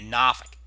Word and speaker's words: Norfolk: pressure over downtown Norfolk yes I say it another way the correct way to say it supposed to say it in Virginia Norfolk there's the low right